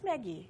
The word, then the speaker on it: Maggi: Maggie, Maggie who knows how it's noodles. pronounced? It's Maggie. It's Italian. Okay. Don't know why it's Italian, but it's from Nestle. But anyway, I think it's meant to sound Italian. I didn't realise noodles were so popular in India.